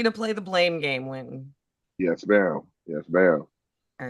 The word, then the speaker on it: Wynton: But it's like, but you're missing an S. Ain't no S. Winston, Wynton. No, Wynton. W-Y-N-T-O-N.